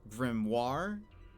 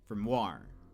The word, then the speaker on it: grimoire: in this game, that his accent is on Grimoire, which is also a very Australian thing. When he introduces himself, he always says Grimoire, which I feel like, I don't know if this is true across the board, but I feel like the American pronunciation is grimoire, where the emphasis is on the first syllable.